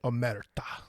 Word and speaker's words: Omerta: And I'm probably going to say their name wrong. Oh, no, I think you're going to say it right. Omerta.